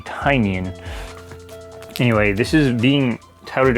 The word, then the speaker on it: Tynion: I used to say his name is Tynion, even though there's a Y, but the name of his company is Tiny Onion, so it makes sense it would be Tynion.